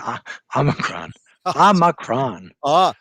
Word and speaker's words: omicron: said it wrong again ah macron like ah like awesome dude awesome that that that's the correct way ah awesome that omicron